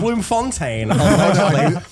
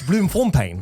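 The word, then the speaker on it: Bloemfontein: Oh really the correct pronunciation is Bloom Fontaine because a South African at a convention came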